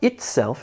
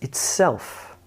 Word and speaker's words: itself: It's not itself, it's itself. Beleaguered.